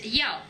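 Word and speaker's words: 幺: Por ejemplo, el 14, el número 1, una forma de pronunciar el número 1 en China es yao, cuando se pronuncia como número de teléfono.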